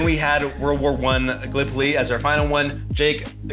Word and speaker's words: Gallipoli: the game right, because being from Iowa, I said Gallipoli, and it is pronounced Gallipoli.